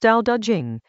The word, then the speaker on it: Dao De Jing: Chapter 20 of the Dao De Jing, pronounced Dao De Jing, is the strangest chapter in the book.